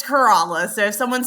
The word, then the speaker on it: Corolla: correct you for sure you say Corolla I say corala I got it totally